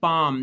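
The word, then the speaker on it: palm: एल के साथ अगर एम आ जाए तब भी एल साइलेंट है। पाम यह लफ्ज है पाम।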